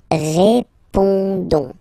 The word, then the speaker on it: répondons: Alright, then of course for nous, we've got the normal and classic ending O-N-S, okay, don't pronounce the final S, you only pronounce this O sound, so you get répondons, nous répondons, nous répondons, okay, and